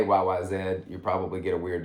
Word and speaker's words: YYZ: you know also good to know it's got yyz i believe that's how you pronounce it it's a canadian airport code it's easy to say most people say y-y-z so if you say y-y-zed you probably get a weird look but that